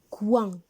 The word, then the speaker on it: coin: les images c'est le coin le coin regardez maintenant commencer qui le mot coin c'est au i n répéter c'est au i n coin il se compose d'une